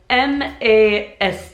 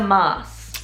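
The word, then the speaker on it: Maß: quick short eighth so remember don't do the ah sound you know you're you're not going to the doctor shorten it easy does the trick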